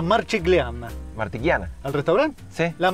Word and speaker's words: Marchigiana: Martiquiana, no se dice así. ¿Qué, cómo se dice? La Marchigliana.